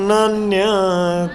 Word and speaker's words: नान्यत्: मत्त परतरम नान्य, न अन्यत, है ना, उसमें तय आधा साइलेंट। मत्त परतरम नान्यत, बोलिए।